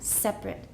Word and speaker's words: separate: issue she wants a separate two syllables with a schwa separate not three separate and 80 is it separate everyone's separate a separate issue but here is here it's a verb it is separated we're using the Gucci fence here okay so is separated separate because it's a verb it's eight everyone separate that's how many syllables three please fix that in